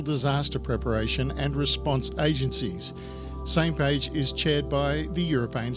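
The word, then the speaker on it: SMPAG: how to uh to pronounce This Acronym it's pronounced same page s m p a same page oh how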